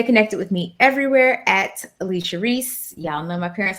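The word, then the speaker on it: Alechia: and creator of Howie blend my last name is spelled g-u-a-y awesome I'm some awesome you can stay connected with me everywhere at Alicia Reese y'all know my parents got excited a-l-e-c-h-i-a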